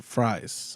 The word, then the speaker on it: Fries: Instead of calling him Victor Freeze, his name is Victor Fries, and I'm like, what the fuck is going on They here? actually pronounce it as fries.